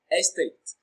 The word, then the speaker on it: estate: Estate. Estate is pronounced and broken down into syllables as estate. Tate receives the stress. It is pronounced louder and longer.